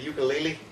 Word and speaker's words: ukulele: Was it a ukulele? I don't think it was a ukulele. You know, actually, the way to pronounce ukulele is ukulele. Ukulele. Uku. Uku. Ukulele. Ukulele. I learned that in Hawaii one time.